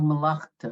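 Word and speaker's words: מלאכתו: Melavto. Yep, malachto. No, malachto, right? Malachto.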